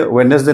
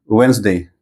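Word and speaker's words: Wednesday: है लेपर्ड उसी तरह ये वेडनेसडे नहीं है ये क्या है वेनसडे चलिए पले करते हैं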